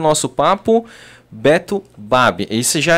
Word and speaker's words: Baby: Já foi Baby, Babi e Babi, né? Quando criança, o papai e a mamãe ensinaram que era Babi.